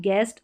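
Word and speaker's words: guest: गाइड, गेस्ट और guard, यहाँ पर यू साइलेंट है।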